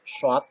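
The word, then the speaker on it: ص: Kemudian yang kedua, melafalkan huruf shad, ya. Berbeda dengan lafal huruf sin. Harus ya huruf shad itu membacanya dengan bibir agak ke depan, seperti hendak bersiul.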